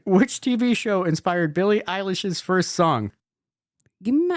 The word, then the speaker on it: Eilish: Billie Eilish? Yeah, that one. Sure. Billie Eyelash.